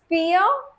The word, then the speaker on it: vier: Eins, zwei, drei, vier, fünf. Fear, remember, V is always pronounced as F in German.